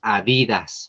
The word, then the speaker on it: Adidas: esta marca de tenis Nosotros siempre le dijimos Adidas porque así se escribe porque es palabra grave y como no tiene acento pues la leemos como está escrita Adidas va a lanzar